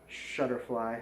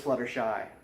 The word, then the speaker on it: Fluttershy: It is Fluttershy. I said it right. I said it wrong. I always want to say Shutterfly, but it's Fluttershy.